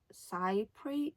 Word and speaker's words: Chypre: she know French so she say about cpri because French they don't um pronounce the h I hope that I